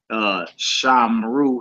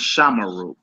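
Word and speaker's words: שָׁמְרוּ: You're supposed to pronounce that Shiva, so it's not Shamra, it's Shamara. It's not Shamru, it's Shamaru.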